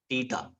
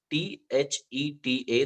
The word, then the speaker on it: theta: That is how the symbol is, and it is pronounced as theta. The spelling is Theta. The H here is silent, right? So it is theta.